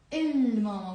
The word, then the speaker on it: الماما: ماما, الماما. We pronounce the lam because it's a moon letter.